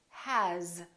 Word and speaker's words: has: the word has it's spelled with an s but the sound is actually z has here's another one s